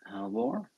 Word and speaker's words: Halvor: Is that the right way to pronounce it? Halvor? Yeah. Halvor. Okay, good to know.